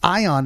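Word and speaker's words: Aion: And Ion is spelled A-I-O-N.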